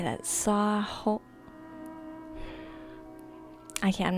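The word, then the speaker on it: Samhain: know you don't say sam Hayne sa thank you I was like I know you don't say it like that and I the thing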